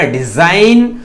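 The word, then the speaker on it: design: यहां पर जी साइलेंट है, ये हो जाएगा डिजाइन।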